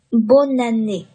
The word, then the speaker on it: bonne année: l'an dernier，l'année dernière，最后一个非常常用的，也很好记的。可以跟咱们这个刚才讲的 bonjour 和 bonsoir 和等等一块儿去记，叫做 bon année，这也有一个连读 bon année， bon année 是过年好、新年好的意思。好了，这就是关于 année 的啊，给大家总结的一些比较常用的词组，还有问题吗？你哪个不明白需要解释可以问。如果没问题的话，我们接下来往下看下面这三组词。下面这三组词你会发现哈，跟上面的这个